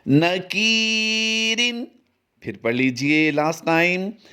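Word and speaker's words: نَكِيرٍ: नून ज़बरना, काफ या ज़ेर की, न की, रा दो ज़ेर रिन, नकीरिन।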